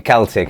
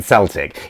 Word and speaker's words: Celtic: much trouble for pronouncing Celtic in the wrong way quite often than Celtic, even though technically you can say both. It's from, I think the original Keltoi from the Greek had a K, but the Celtic we